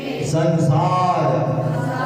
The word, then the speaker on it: संसार: अब संसार का ऊपर की बिंदी का उच्चार करो, उच्चारण हटा दिए, ऊपर की बिंदी का क्या हो जाएगा? ससार, ससार हो जाएगा। ससार का कोई अर्थ नहीं होता है।